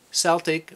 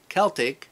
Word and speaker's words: Celtic: And, a while back, another viewer asked to make a Celtic or Keltic knot. There seems to be a great dispute on the pronunciation on that.